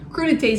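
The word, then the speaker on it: crudités: word for crudites or crud Tas is a fancy word for this appetizer that's the right way to say it Okay so next I'm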